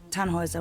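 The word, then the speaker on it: Tannhäuser: why what's your name tanhauser we'd pronounce it tanhoyza with an umlaut german roots yes my grandpa these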